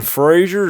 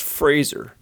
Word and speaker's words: Fraser: their Pottery skills Brandon Frazier is that you it's pronounced Fraser and yes of course